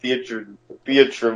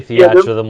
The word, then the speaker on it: Theatrhythm: I thought it was always pronounced Theatrum or some dumb, I don't know. something dumb. I don't know if there's an actual pronunciation. I just say Theatrhythm like theater rhythm.